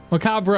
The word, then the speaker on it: macabre: Figures you don't say the re at the end. The spelling knife with a K, yeah. We say the re, but we say it differently as English speakers.